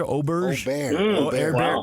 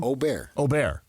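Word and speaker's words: Åberg: Ludwig Auberge. Aubert. Say it again. Aubert. Yeah, it's like Gobert. Just think Rudy, but without the G.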